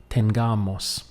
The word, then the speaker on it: tengamos: it becomes tengamos now be careful that you don't say Tenga Moss because tengamos does not exist in Spanish and if you emphasize it or pronounce the word in that way you will not be understood so it must be Moss tengamos so this will stand